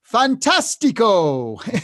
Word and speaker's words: fantastico: like like in Italian the word fantastic is pronounced Fantastico you know that's just a fun one Fantastico isn't that Fantastico um you know so but